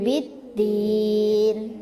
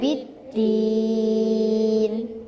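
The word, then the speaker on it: بالدين: ulim jelasin ini loh Bidin itu adalah baca teman-teman pada ayat 1 bacaan Bidin dibaca panjang en harakat karena bacaan Mad Arit lukun ya Coba baca baca bersama-sama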